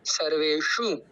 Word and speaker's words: सर्वेषु: फिर उसके बाद में पीछे मूर्धन्य शकार वाला शु है, जिसमें हर्ष उकार है, जैसे कि अयनुषु में हमने देखा है। तो सर्वेषु, इस प्रकार से हम इसका उच्चारण करेंगे। अब हम आगे चलते हैं।